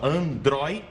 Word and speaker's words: androide: Vamos lá, separando sílaba, Android. Aí você tem o ditrongo oi, de como última sílaba. Então é uma palavra paroxítona, ou seja, uma palavra em que a penúltima sílaba é a sílaba forte, é a tônica, certo?